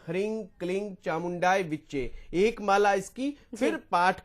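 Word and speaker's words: ह्रीं क्लीं चामुण्डायै विच्चे: लगा सकते हैं जी वैसे तंत्रोक्त रूप में जो लिखा गया है हमारे ग्रंथों में उसका यही उच्चारण है इ हरिंग क्लिंग चामुंडा विचे एक माला इसकी फिर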